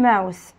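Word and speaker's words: mouth: فم ماوث ماوث، وعندي تي بنطقها حرف الثاء، فم ماوث ماوث ماوث.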